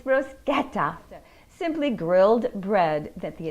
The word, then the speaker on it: bruschetta: favorite simple italian dishes bruschetta not bruschetta it's bruschetta simply grilled bread that